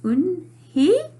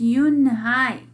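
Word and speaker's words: Unhei: Your name is Un-hee? He asked her with his eyes open wide. Uh-oh. Yunhai looked quickly at Mr. Kim, then turned to Joey. She nodded slowly. Yes, it's pronounced Yunhai, and it means grace, Mr.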